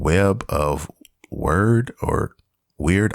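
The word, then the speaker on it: Wyrd: it's called Web of word or weird I can't pronounce it's w-y-r-d okay I'm guessing it's it's word okay and it's a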